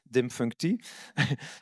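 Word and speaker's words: Điềm Phùng Thị: to connect yourself to, I have to pronounce it well, Dimfunkti. Perfect. Perfect now. We exercised on that a little bit. Dimfunkti.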